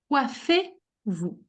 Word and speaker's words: coiffez: Coiffez-vous. Coiffez-vous. Coiffez-vous. Très bien. Coiff- By the way, the Z is never ever pronounced in the conjugation. It always make one sound with the E that is before.